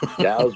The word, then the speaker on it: DAOs: rhyme with cows. DAOs rhyme with crowds, and you can milk both of them if you do it right.